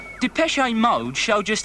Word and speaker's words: Depeche: off the xn and we just kept the pronounced de peche I'm mode show just how much futurism as